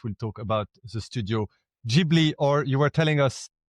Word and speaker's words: Ghibli: And more specifically tonight, we'll talk about the Studio Ghibli, or you were telling us Ghibli, there is a bit of a story behind the name, isn't there?